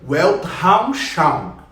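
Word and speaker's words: Weltanschauung: tá porque eu não falo alemão mas a pronúncia correta seria welt haus Charme well Hall Chapa o Elke é mundo Raul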